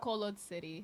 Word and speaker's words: Bacolod City: How do you pronounce that? Bacolod City.